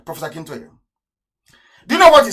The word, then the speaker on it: Akintoye: Akintoye. I want to pronounce it correctly. Professor Akintoye.